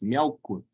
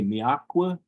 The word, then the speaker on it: Miaukwe: So either way, if people pronounce it with an H, people pronounce it without it. Either way is perfectly fine. So whether you say miakwe or miahukwe or miaukwe, either way is perfectly fine.